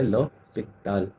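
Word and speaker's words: L'Hôpital: इसको लिखते ऐसे है, इसका प्रोनाउंसिएशन होता है l'Hopital।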